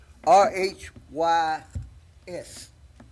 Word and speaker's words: Rhys: pronounce his last name, so I'm going to spell it. R H Y S.